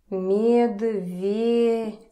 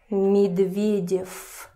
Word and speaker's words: Медведев: Medvedev. Another Russian last name. Medvedev. So it's not voiced in the end, it's unvoiced. Medvedev. Medvedev. And again, practice with this, Medvedev. It's not Medvedev.